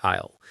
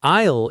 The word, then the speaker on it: aisle: An aisle is the long narrow space between rows of shelves. The S is completely silent. It's pronounced exactly like isle, as in I will.